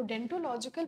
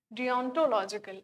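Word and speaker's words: deontological: आगे चलते हैं हम डियोनटोलॉजिकल, मैं इसको डेंटोलॉजिकल प्रोनाउंस करती थी आज तक, इट इज डियोनटोलॉजिकल, आज तक इसको मैं डेंटोलॉजिकल प्रोनाउंस करते आ रही थी।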